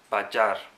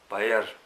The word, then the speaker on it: Bajar: So according to this English, my friend is called Nim, and another friend is called Bajar, not Bayer.